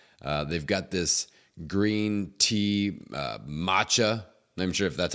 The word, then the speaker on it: matcha: got this green tea matcha I'm sure if that's how you pronounce it ma CH a matcha maca no it's matcha for sure green tea matcha that's delicious and see a